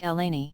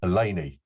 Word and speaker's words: Eleni: way to everyone thanks my name is pronounced like Eleni Eleni slightly smiling face alert